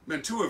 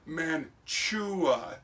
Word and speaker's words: Mantua: They say that it's Mantua is the way it's supposed to be pronounced. I gotta tell you, we don't call this here a choo-choo train. It's spelled choo-choo, right? So if you want me to pronounce Mantua, change the spelling of it. I'm from the west of the Mississippi. All of us Midwesterners out here, we call it Mantua.